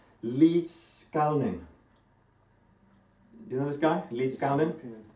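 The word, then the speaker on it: Liedskalniņš: So there's a guy, trying to pronounce his name correctly because he's a Latvian, called Ed Līdzkalnis.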